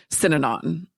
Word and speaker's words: Synanon: so your dad spent his teen years in synanon did i pronounce that correctly yeah you did that's it